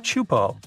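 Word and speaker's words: Teahupo'o: It's pronounced Chupo, and it means broken skulls in Tahesian.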